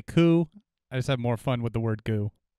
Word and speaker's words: Gu: I think it looks like it's spelled Gu and it's pronounced Ku, but anyway, those are two objects in addition to the pictures. I call it goo. I heard someone say goo, and I've heard someone say coo.